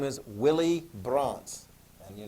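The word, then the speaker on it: Brandt: earlier in your studies his name is willie bronts and you're not spell it's not spelled right there but w-i-l-l-e-i-e and then braun b-r-a-n-d-t bronte i know i don't have it there but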